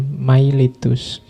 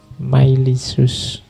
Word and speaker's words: Miletus: Iya talis of milicius meskipun tulisannya miletus kalau pakai lidah Inggris biasanya dibacanya mailitus tapi pakai lidah Yunani mailisus jadi talis of myisus tapi